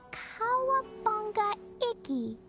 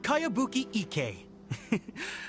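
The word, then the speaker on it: Kayabuki Ikka: heard of it by cowabunga icky your mia this is a really strange name who's this cowabunga it's pronounced kaiabuki ek that would be me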